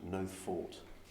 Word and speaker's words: Nothe Fort: out um we're in we think it's pronounced no fault n-o-t-h-e that's correct that's correct yeah um I don't know